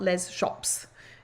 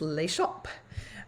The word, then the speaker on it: Les Shops: of the sweets and it's called a lay shop so that's how you say it it's not Les shops it's lay shop um which means the